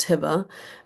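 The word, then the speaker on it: Hibah: Um my name is actually pronounced Hiba. Um my parents misspelled my name at birth, which is why there's a pesky H at the end.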